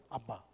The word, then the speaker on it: Abba: Esa era la forma aramea de pronunciar, Abba, Abba.